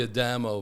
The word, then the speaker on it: Adamo: So, what's what is the adapt what what did I It's actually Adamo, but Adamo.